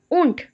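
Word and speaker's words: Wundt: William ऊंट। William ऊंट। Deep pronounce नहीं होगा।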